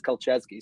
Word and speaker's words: Colchesky: Yes, I've asked him 3 times how Colchesky pronounces his last name because I've had people come up to me. He's like, is it this? Is that? And I asked him 3 times. He says Colchesky, so that's what I'm going with.